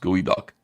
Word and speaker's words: geoduck: And Eric is the geoduck pronounced gooey duck.